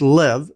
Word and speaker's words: Lev: The removal of China Merchants Bank from quote sources, and the removal of the Bulgarian, assuming this is pronounced Lev, L-E-V, or as it's shown